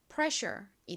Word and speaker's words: pressure: 그래서 연결해서 발음하면 pressure이 됩니다.